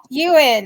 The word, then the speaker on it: Ewan: Ewan, like Ewan McGregor.